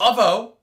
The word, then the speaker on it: avo: Avo toast. Avo? Avo toast? It's avo. Learn how to pronounce English.